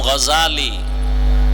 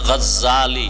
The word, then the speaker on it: غزالی: بولا ابو جہل جہل جہال نام হলো امام غزالی بولے غزالی نہ غزالی বিশুদ্ধ উচ্চারণ غزالی আর اللہ যদি কবুল করে